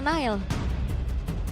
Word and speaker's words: Nael: ada konten dari alterigo Nail itu dibacanya nanael iya nanael nanael iya kalau misalkan sama anak-anak pas lagi nongkrong juga manggilnya nanael Nana Iya nanael jadi kayak n-nya tu dua gitu nanael Nel Ya udah